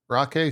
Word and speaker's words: Rockay: So it's not Rocky, it's Rockay City for whatever reason.